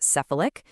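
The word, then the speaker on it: cephalic: It's called the syphalic phase digestive response. Sephalic that's pronounced sephilic just means anything related to your head.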